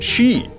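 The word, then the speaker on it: sìth: in Darth Maul but Sith is pronounced she in the old tongue like ban she Ah that's the intro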